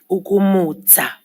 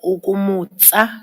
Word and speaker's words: ukumutsa: Ukumutsa or ukumutsa. Some areas will use the TSA in the end. But if I'm hearing the JP correctly, he's using the pronunciation of the DZA, ukumutsa.